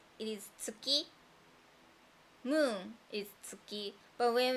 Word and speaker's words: 月: In Japanese, we sometimes say it is tsuki.